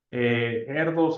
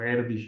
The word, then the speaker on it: Erdős: Erdos, además, o Erdős, ¿no? Depende de cómo lo pronuncien.